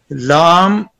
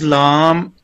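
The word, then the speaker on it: لام: जी, lam pronounced as lam, start using corner of tongue touching the gums of front teeth to front molar.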